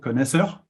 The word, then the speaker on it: Connaisseur: So in French, it is called connaisseur, and that's how I will spell it, obviously.